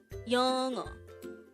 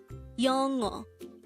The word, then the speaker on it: 영어: 영어. This is pronounced as a two-syllable word. The first syllable is 영, the second syllable is o. Pronounce it with me. 영어.